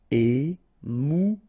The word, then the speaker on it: émouvant: Final T not pronounced. A-N together. En. Émouvant.